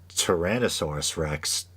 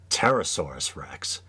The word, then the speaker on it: Tyrannosaurus rex: one and i believe he pronounced tyrannosaurus rex pterosaurus rex which in a weird